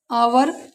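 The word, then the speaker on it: hour: इसे पढ़ेंगे ऑनर, एच ओ एन एस टी, ओ से पहले यहाँ भी एच है तो ऑनेस्ट, आवर। नोट करना बेटा, आई और जे कभी साइलेंट नहीं होते।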